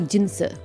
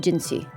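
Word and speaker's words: Jinhsi: cuz it looks like it could should be jiner but they were pronouncing it giny if you actually take the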